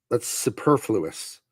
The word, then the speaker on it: superfluous: When I was younger, I thought it was superfluous because that's how it's spelled.